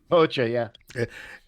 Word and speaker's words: Hoxha: the Cold War era of this weird Enver Hoxha, is that how you pronounce it? Hoxha, yeah.